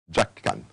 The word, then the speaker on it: Njakani: Njakani. Jack Can, but the N comes after the J, so but still Jack Can.